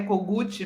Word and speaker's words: Kogut: Aliás, eu eu eu eh falei certo, o seu nome é cogut mesmo que pronuncia?